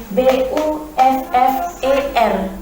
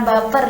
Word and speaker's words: buffer: Ejaannya yaitu BUFFER, buffer. Bukan baper ya, bukan baper seperti perasaan-perasaan kids zaman now, itu bukan.